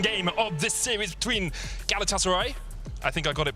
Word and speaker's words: Galatasaray: couple of tweets saying don't say galatasaray so it's galatasaray yeah we'll try if you're turkish and you hate my pronunciation tweet at me i